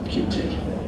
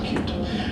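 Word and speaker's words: Qt: in WebKit spots into something called cute cute cutie pronounce cute cute has been around for ages as a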